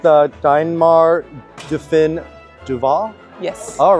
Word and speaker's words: Deinmaar Do Fin Dovah: about Lily's build I don't know if I'm pronouncing this right the diar duin Duval yes all right perfect so please just take